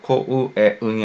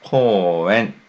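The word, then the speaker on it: 公園: 그래서 코우에 응이 아니라 코엔. 우 발음은 네, 묵음 처리합니다. 장음 처리해주세요.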